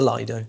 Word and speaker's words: lido: Um everyone locally calls it the lido. Lido. So, or Although, apparently, the the correct pronunciation is lido.